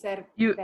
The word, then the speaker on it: cerveza: When I say it, when I write it, it's uve, pero pronunciation is be, is cerveza.